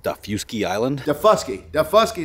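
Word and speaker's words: Daufuskie: called da fusky island the fusky is how you say that heavy d so we're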